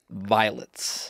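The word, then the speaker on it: Vylts: right fine his name his band's name is violets and it's spelled v-y-l-t-s violets pretty cool right no vowels except for the y sometimes y yeah it's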